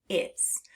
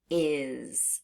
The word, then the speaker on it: is: are in the word is we're going to finger tap the sounds what's the first sound I what's the second sound Z put them together is do it with me